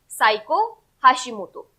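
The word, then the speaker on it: Seiko Hashimoto: Correct answer यहाँ पे रहेगा आपका option number B, साइको हाशिमोतो। ठीक है, या फिर सेइको हाशिमोतो, इस तरीके से आप इसे प्रोनाउंस कर सकते हैं।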